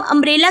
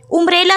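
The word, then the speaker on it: umbrella: शुरू हो रही है, लेकिन जब हम इसका उच्चारण करते हैं, इसको प्रोनाउंस करते हैं, तो प्रोनाउंसिएशन में अम्ब्रेला हो जाता है। उम्ब्रेला तो नहीं पढ़ेंगे इसको, अम्ब्रेला, तो इसलिए क्या इस्तेमाल हुआ, एन अम्ब्रेला, ठीक है।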